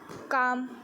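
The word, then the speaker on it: calm: जैसे कि मैंने यहाँ 2 पे हाईलाइट किया हुआ है काम में एल साइलेंट है, मतलब शांत, ठीक है।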